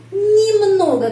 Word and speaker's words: немного: Terus di sini немного. Kenapa huruf Y? Huruf Y itu bacanya I. Kenapa? Karena tidak mendapat penekanan.